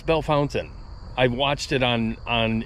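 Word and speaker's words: Bellefontaine: Fontaine everybody pronounces it belf Fontaine no I all the locals call it Bell Fountain yeah it's Bell Fountain I watched it on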